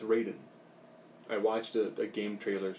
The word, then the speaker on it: Raiden: I've Loved it's Raiden I I didn't say Ryden apparently it's Raiden I watched a game trailers thing where they